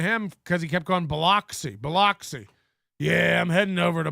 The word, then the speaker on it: Biloxi: Nobody says Biloxi. You know, not in one bit of Hurricane Katrina footage does anybody go, my home's here in Biloxi. No, it's Biloxi. So when Mersh gets back, his pronunciation of the city is now Biloxi. He's changed it. He was, before the trip, it was Biloxi.